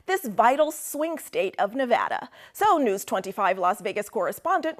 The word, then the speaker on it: Nevada: we love it and you always have to say it correctly Nevada you a got to go Nevada with thousands of proud